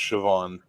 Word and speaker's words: Siobhan: __ ] fair enough no no no it's pronounced Siobhan it's my favorite part